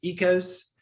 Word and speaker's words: Oikos: that um the brand um oikos is actually pronounced ecos and it's not really true greek yogurt neither